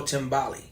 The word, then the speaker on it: Timbali: Timbali. Okay, y'all don't forget that, because it's spelled with an I.